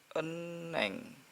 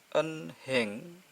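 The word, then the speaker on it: 은행: Terus yang ini berarti bacanya eneng. Eneng. N-nya hidup atau gabung ke suara vokal eng. Eneng. Jadi bukan dibaca enheng tapi eneng. N-nya resilabel tadi.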